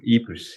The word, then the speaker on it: Ypres: How do you pronounce it? Ypres, yeah.